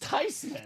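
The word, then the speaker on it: Theismann: the tisman story Tom the tysman it's actually pronounced tysman tyman tysman wow is it Joe thesman is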